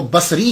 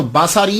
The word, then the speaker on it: بصری: یاد رکھیے گا کہ جب آپ اس کو تلفظ کریں گے تو باساری نہیں کریں گے، سواد کے اوپر زبر نہیں پڑیں گے۔ اگر آپ نے سواد